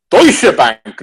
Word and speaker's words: Deutsche Bank: Deutsche Bank, not douchebag, Rick.